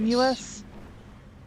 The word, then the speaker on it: Seamus: It's Seamus.